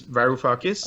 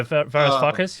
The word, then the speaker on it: Varoufakis: say his name, the Greek finance minister, Yanis Varoufakis. Oh, yeah, Varoufakis, yeah.